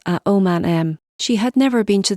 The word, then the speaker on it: Aomame: for green peas and pronounced with the same four syllables at om man M she had never been